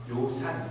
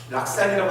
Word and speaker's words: 요산: 인자, 덕이 있는 자는 요산, 산을 좋아하고, 락산이라고 하시면 안 되죠. 우리 한문 선생님이 저것을 락이라고 읽으면 즐거울 락이다, 잘못됐으니 좋아할 때의 의미로 쓰일 때는 요라 발음하는 것이 맞다라고 그렇게 우리가 배웠습니다.